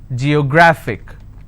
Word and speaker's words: geographic: G yo graphic and the rule says if I have a word ending with IC I need to stress on the second last syllable so I'll pronounce this as Geographic if I have another